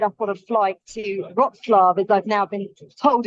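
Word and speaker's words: Wrocław: about to head off on a flight to roxlav as I've now been told it's pronounced I've been mispronouncing it all week I've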